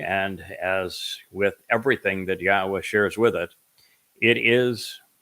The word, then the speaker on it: Yahowah: Yahowah, which is the proper pronunciation of Yod-He, Wah-He, he is our Elohah. The O sound from Elohah, God, is provided by the Wah, and it is concluded by the Ah sound in Yahowah's name.